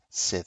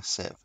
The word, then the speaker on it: Civ: It has been a long time since I've made a Civ 6 video. That's how it's pronounced. Yeah, Civ.